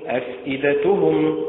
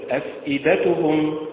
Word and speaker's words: أفئدتهم: وليست يبدلهما وليست يبدلهما، كذلك أفئدتهم تنطق إدتهم هكذا بالنبر على حركة الهمزة وليست إدتهم وليست إدتهم، الأداء المستقيم أفئدتهم وليست أفئدتهم وليست أفئدتهم.